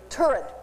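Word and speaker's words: Turid: work of an eye freak I forget to pronounce her name right turret thank you I always say it wrong and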